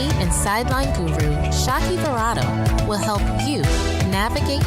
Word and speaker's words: Shaki: Here's your host, Chief Sideline Hacker, Target enthusiast, and French fry lover, Shaki Verado. What's up, Sideline Hackers? Shaki here, the one that rhymes with hockey and is short for Shakira, like the singer.